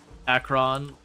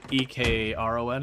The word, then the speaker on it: Ekron: And it's not, Akron like that, it's, E-K-R-O-N, I believe. Which they did ultimately add Ekron to the map, like there actually is an Ekron now. Yep, that's the way you spell it.